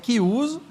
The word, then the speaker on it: Chiuso: Que se escreve Chiuso, mas é Chiuso.